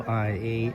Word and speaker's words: Oia: This little town up here is spelled O I A, but it's pronounced IA.